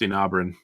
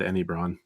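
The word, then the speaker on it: Enabran: So right there, he mispronounced Enabron. He said Enibron.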